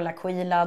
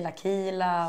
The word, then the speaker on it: Laquila: Jag uttalar Laquila de tjejerna på som jobbar på det säger Lakila och Jaha man